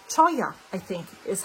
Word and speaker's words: Cholla: My reading journal, my Bennu Daily Mate, my Skogsy Cholla. No, that's not the way you pronounce it. Choya, I think, is how you pronounce it.